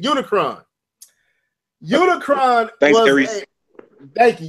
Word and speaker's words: Unicron: I think that Unicron. That's how you say it. Unicron.